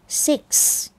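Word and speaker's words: six: Around 6 Around 6 6 อย่า ลืม ข้าง หลัง ด้วย นะ คะ ตัว X 6 Around 6 เรา จะ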